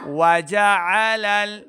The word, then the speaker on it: وجعل: سماوات طباقا طباقا وجعل واو زبر وا جیم زبر جا، واو اور جیم کو ہم نے لمبا نہیں کرنا، عین کو صحیح تلفظ کے ساتھ پڑھیں گے، لام کو آگے لام کے ساتھ ملانا ہے۔ وجعل آل نہیں کرا، آل حمزہ کی آواز ہے، عین کو صحیح تلفظ کے ساتھ پڑھنا ہے۔ وجعل قمر قمر قاف